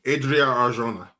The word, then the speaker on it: Adria Arjona: Ardrina? Matt, you didn't say anything. Adria Arjona.